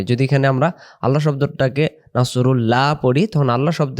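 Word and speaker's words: نصر: এর সাথে কথা বলব ইজ এর সাথে যা নাসরুল্লাহি নাসরুল্লাহি না আওয়াজটা এমন আসবে আর যদি আমরা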